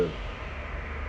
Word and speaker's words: ho: Instead of guido, I drive, io guido, you say O, which is H-O. H is not pronounced in Italian, so it's just O.